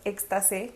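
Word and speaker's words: Ekstase: Igual encontramos que a nivel europeo la primer como película con un desnudo fue extas, se pronuncia. Bueno, es éxtase con s e.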